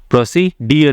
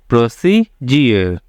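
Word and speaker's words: procedure: individual next क्या है प्रोसीजर क्या डी इसके बाद है यू आरई तो इसका साउंड क्या आ रहा है जोक आ रहा है प्रोसीजर प्रोसी डियर नहीं है प्रोसीजर यानी प्रक्रिया य प क्या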